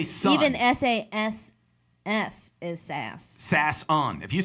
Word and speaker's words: Sasson: But S-A-S is sass. Son, this is my son, is S-O-N. So S-A-S-S-O-N. Boom, Sasson. But whatever, who cares?